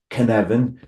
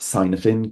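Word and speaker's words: Kanban: across the Canan framework pronounced Canen not pronounced copin Canan what would we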